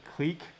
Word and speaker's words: clique: c right why because it's called a click uh some people would call would pronounce it clique right in real life